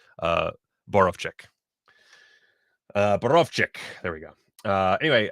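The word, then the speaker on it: Borowczyk: well i can't pronounce deck but i can't pronounce uh boroff chick uh berovczyk there we go uh anyway uh burbane collection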